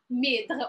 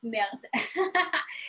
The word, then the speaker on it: merde: After that, I'm going to write it mèdre or merde. So we pronounce it either way.